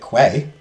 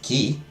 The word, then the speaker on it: quay: like Quay exactly yeah I'm not going to judge somebody who pronounces it Quay even though it's key they haven't heard they